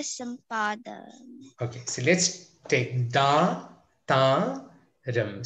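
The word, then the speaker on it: దాతారం: Okay, so let's take Dhaathaaram. So those two are long vowel sounds. Dhaathaaram. Dhaathaaram. Dhaathaaram.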